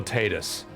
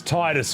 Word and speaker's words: Tidus: Hey, I asked people if his name is pronounced Titus or Tatus.